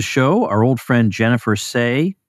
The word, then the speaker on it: Sey: I'm delighted to welcome back to the show our old friend Jennifer Say. That is how you say Jennifer Say, is it not? It is indeed.